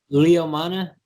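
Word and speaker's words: Leomana: do you pronounce it leo mana so leo yeah leo and mana okay okay easy yeah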